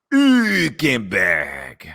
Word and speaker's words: Hülkenberg: Hülkenberg.